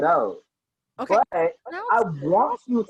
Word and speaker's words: Haute: "Some Like It Hot," but I spelled it as Haute for fashion reasons, which is pronounced as haute, as in haute couture. So it's actually pronounced "Some Like It Oat."